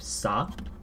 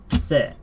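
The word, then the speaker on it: セ: For those familiar with katakana, this should look very similar to, I believe, sa. If I quickly look back in my notes, because they exist. Not sa, se.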